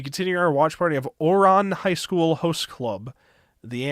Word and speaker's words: Ouran: it was somebody saying, "Bro pronounced it Ouran instead of Ouron." So, I'm going to make sure I say this right. right, idiot. Okay, we'll be continuing our watch party of Ouron High School Host Club, the anime.